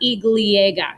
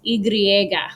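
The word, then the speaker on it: y griega: l comes from but it's not igliega it's igriega with an r there okay it can be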